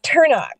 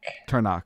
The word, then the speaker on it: Turnock: to get into that how do you say your last name for those people who are watching this yes turn on turn on okay awesome so talk